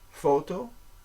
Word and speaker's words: photo: de uh photo photo so we've got a pH they do the F for the pH it's not P it's photo a lot of um